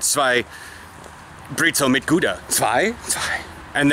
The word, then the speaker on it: Brezel: And a Brezel. And I know how to pronounce Brezel, not Anita Pretzel.